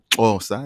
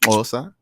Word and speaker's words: Xhosa: Xhosa, it's how it's pronounced. Xhosa.